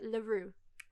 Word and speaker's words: Leroux: Yeah, the X is silent, so it's like Leroux, Right, the crow.